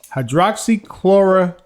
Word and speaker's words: hydroxychloroquine: Hydroxychloroquine.